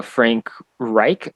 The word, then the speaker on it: Frank Reich: So the head coach for the Colts is Frank Reich, I believe is how you pronounce it.